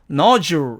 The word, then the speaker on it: nodule: 그러니까 이 D를 뒤쪽으로 물리지 않고 이 O가 가져가서 not Jew 이런 식으로 해서 nodule 이런 식으로 발음이 된다는 얘기입니다.